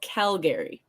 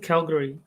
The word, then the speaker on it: Calgary: everyone else calls it calgary putting the emphasis on cow where you're putting it on gary calgary it's one of those